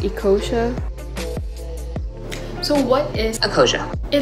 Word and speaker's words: Ecosia: would be to use eco-asia just kidding it's actually pronounced ecosia so what is akosha